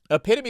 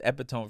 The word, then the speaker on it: epitome: but like never write epitome is not dis spelled the way I thought it would i' I've been pronouncing it when I read it as epitone for the entirety of my life knowing the meeting but